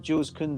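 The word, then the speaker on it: Koundé: christensen yeah nip and said it right um jules conde i've always liked the guy i've always liked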